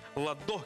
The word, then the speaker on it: Ладо: Нам сообщают наши зрители, что правильно говорить «ладо кисхавели». А вот ладо и нет. «Ладо кисхавели». Посмотрите, пожалуйста, вот сюда. «Кисхавели». Ладо. Ладо. На букву А ударение в имени этого человека.